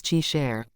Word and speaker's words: Kai Shi: Random tip of the day, Kai Shi is pronounced as Chi Share.